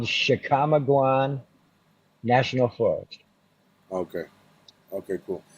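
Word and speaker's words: Chickamauga: a tricky word but it's called it's called chicamaguan national forest okay okay cool and that's on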